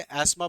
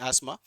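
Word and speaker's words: asthma: एस्मा हो जाता है कईयों को, और एस्मा जो अस्थमा जिसे बोलते हैं, वैसे एस्मा बोला जाता है, प्रोनाउंसिएशन इज एस्मा।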